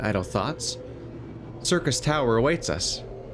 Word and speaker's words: Syrcus Tower: Circus Tower awaits us. I swear that's just how you actually pronounce it.